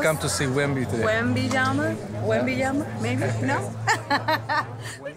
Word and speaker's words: Wembanyama: Wembanyama? Wembanyama? Maybe? No? How you say it? Wembanyama? Wembanyama.